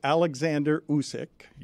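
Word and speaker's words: Oleksandr Usyk: or how to pronounce his name uh it's Alexander usk is how you pronounce his name yes and he is that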